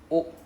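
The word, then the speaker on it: を: So when we use a verb, we use wo, the w particle, right? pronounced as O very small O wo which is pronounced as O.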